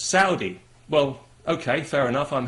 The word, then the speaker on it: Saudi: have said to me you know you're you're pronouncing that wrong it's not sordi it's Saudi well okay fair enough I'm happy to pronounce